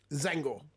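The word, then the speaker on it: Tzaangor: Now, do you pronounce the T, or is it just a silent T? Zangor.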